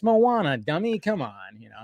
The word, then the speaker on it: Moana: the Disney stuff I couldn't say Moana right at the at first I was like Mo Mona Moana I was just like I'm saying that wrong huh and then it